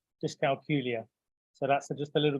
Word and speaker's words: dyscalculia: saying the word so I have a little trick that rhymes with Julia dyscalculia so that's just a